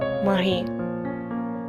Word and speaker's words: Marie: Her work will be completely in France, a Frenchman will become her husband, her name will be pronounced according to the French phonetics, Marie.